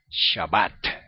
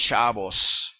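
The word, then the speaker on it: שבת: Israel y para nosotros lo correcto es shabbat no es chavos okay Bueno solamente esa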